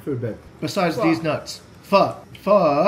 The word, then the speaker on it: pho: Pho. You need to pronounce it correctly. It's pho. Like with a question mark. That's why it has that weird inflection mark.